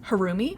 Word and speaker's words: Harumi: just like with any say it one more time harumi harumi okay like seeing it it's really similar to halloumi Pasta which is interesting